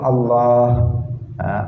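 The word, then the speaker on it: الله: yang di tengah itu Allah Allah itu panjang ditengah bukan Allah bukan seperti itu tetapi Allah kemudian hanya jangan hilang hanya dalam lafadz Allah itu jangan hilang sebagian orang membacanya Allah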